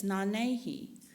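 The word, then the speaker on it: Nanyehi: Her Cherokee name is Nanehi, and it's really hard to say, but it's Nanehi.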